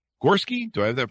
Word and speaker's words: Gorski: Gorski. Do I have that pronounced rightly?